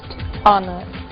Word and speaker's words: honor: O som do H. Pronunciado desde a garganta, como em hotel, e mudo em 3 casos: our, honest, honor.